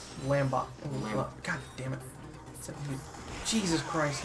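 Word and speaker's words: Lombax: A lambix? Lambot. God damn it. Jesus Christ, now you got me thinking. I know, it's a lombex. Lombex. You said it wrong and I was gonna say it wrong.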